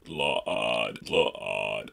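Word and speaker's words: Slaad: no in this case most humanoid races undoubtedly pronounced this slide or sled but these frogs like creatures pronounce their own names like LOD LOD two syllables croak it out the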